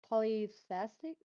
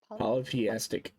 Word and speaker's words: polytheistic: um poly how do you say this word polythestic polytheistic yeah how he feels so today Pekin is